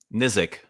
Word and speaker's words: Nizic: what is the correct way of pronouncing your surname? Nizic.